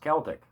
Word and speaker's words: Celtic: My friend keeps admonishing me, it's pronounced Celtic.